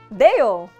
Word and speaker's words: dedo: Another thing that stands out in Dominican Spanish is that the D is silent in words that end in ado or ada, ido or ida, and edo or eda, making them sound completely different.